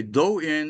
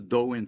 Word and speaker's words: Do-in: Do-in is a Japanese term.